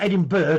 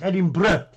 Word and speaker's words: Edinburgh: And it's not Edinburgh, it's Edinburgh.